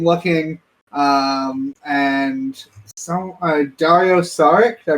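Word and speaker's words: Dario Šarić: week uh i'm looking um and so uh dario saric did i pronounce that right yeah he went back to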